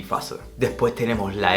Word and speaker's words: Phase: O PH al principio de palabra también va a sonar como una F. Die Phase, die Phase.